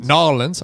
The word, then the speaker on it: New Orleans: Nolans, I think it's how it's pronounced.